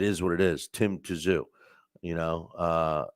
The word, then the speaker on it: Tszyu: up uh is pron correcting my pronunciation of Tim toou um and he's you know it's uh I say I know I I he's saying Zoo you know um listen